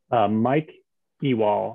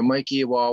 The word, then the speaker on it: Mike Ewald: no problem andrew mike ewald i'm not sure if i'm pronouncing that correctly um yes that's correct um thanks for having me so mikey wall with energy justice network